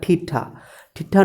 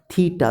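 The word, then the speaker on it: theta: थीटा है, कितना बच्चा इसको क्या पढ़ता है, ठीठा नहीं पढ़ना है, थीटा, देखो मैंने लिखा है स्पेलिंग, हिंदी में देख लो, मैं लिख रहा हूँ थीटा ऐसे करके, थीटा।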